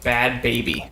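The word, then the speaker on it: Bhad Bhabie: So, this one is about a girl that goes by the name of Bad Baby. Bad Baby. And it's spelled BHAD BHABI.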